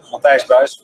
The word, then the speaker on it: Matthijs Buijs: Matthijs, Buijs. Well, that's pretty good for an English guy. Thank you. Matthijs, Buijs.